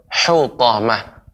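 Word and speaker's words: حطمة: Ya, pengucapan hu masih terasa agak lebih besar pengucapan hu. Yang benar hu. Lebih dilembutkan lagi Bapak pengucapan hutamah. Hu. Coba Bapak ucapkan hu. Ya. Akan tetapi jangan sampai ada seperti menjadi huruf kha.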